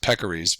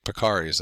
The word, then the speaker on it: peccaries: And so you can see here that the organisms on this, the pigs and the, I believe pronounced peccaries, but it could be pecaries. I think it's peccaries.